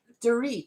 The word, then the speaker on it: Dorit: And so her channel looks like Dort, but her name is pronounced like Dorit, like Doritos, but without the O's.